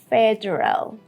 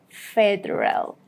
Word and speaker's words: federal: We would pronounce it like this. Federal, federal. Do not say federal, no. We have two schwa sounds here, after D and after R.